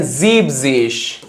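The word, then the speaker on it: siebzig: 70 को बोलते हैं 70 को बोलते हैं जीबिश।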